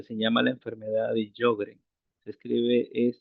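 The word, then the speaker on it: Sjögren: Eh, hay una enfermedad que se llama la enfermedad de Yogren. Se escribe j O gren, g e n.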